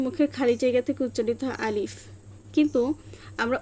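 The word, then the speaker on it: ألف: কারণ হচ্ছে আলিফটা আরবিতে বানান করতে হলে আমাদেরকে প্রথমে হচ্ছে হামজার উচ্চারণ নিয়ে আসতে হয়। আলিফ আলিফ এবং শেষে বাতাস বের হয়। কারণ হচ্ছে শেষে উচ্চারণে ফা আসে এবং ফায় হচ্ছে বাতাস জারি থাকে। হামসের হরফ তোফা। এজন্য আলিফ আলিফ আলিফ।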